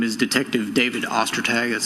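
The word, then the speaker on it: Ostertag: My name is Detective David Ostag. That's spelled O S T E R T A G.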